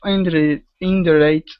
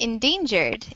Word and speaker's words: endangered: What kind of indirect animals do they have in your country? Okay, that word is pronounced like endangered.